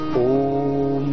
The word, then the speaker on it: ओम: ऐसे ओम का लंबा उच्चारण करते हैं, ओ को लगभग 15 सेकंड में और मैं को लगभग 5 सेकंड में। तीन मात्राएं हैं ओ की और आधी मात्रा है मैं की।